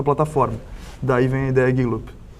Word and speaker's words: Gigloop: Gig Loop. Gig Loop. Gig Loop. Exatamente. Como se escreve isso?